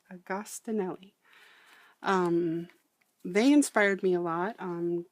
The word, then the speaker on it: Agostinelli: It is Wendy's Journal Adventure, and Gail Agostinelli, I'm going to say, is how I believe it's pronounced. I grew up around quite a few Italians, and I think that's kind of how you say it. I apologize if I got it wrong, but I think it's Agostinelli.